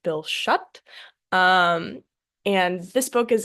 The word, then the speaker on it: Schutt: I believe his name is pronounced Bill Schutt.